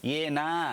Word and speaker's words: Yeah Nah: Yeah, nah. Yeah, you got to nah. drag the nah out of it more.